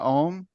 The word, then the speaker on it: AUM: It was a 3-syllable thing. And the AUM is the way it's spelled. And each of those is a separate syllable. So it's Om, 3 distinct syllables.